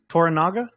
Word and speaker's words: Toranaga: Well, guys, Lord, am I saying it right, by the way? Toranaga? Yeah, that's fine.